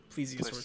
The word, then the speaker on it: Plesiosaur: Plesiosaur.